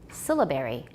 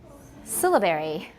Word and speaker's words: syllabary: syllables rather than segments stress is on the first syllable syllabary syllabary it's called a syllabary